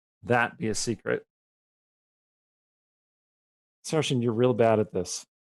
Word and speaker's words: Saorisen: Sarshan, what is your favorite spell? My own name. Your name is a spell? Yes, it's spelled Saorisen. Sarshan. Isn't that like Saracen or something? Don't be racist. Sarshan.